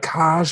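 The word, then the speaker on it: Kaj: How do you pronounce it? Like Cash? I don't know. There was a couple of times. K-A-J. Yeah, K-A-J. I think it's a Cash.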